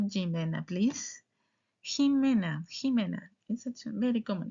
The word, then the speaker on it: Jimena: If you say Jimena Jimena you paid attention to me. Not Jimena.